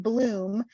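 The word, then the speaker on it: Blum: it by the author Bloom it's pronounced Bloom but she spells it b-l-u-m b-l-u-n um highly recommend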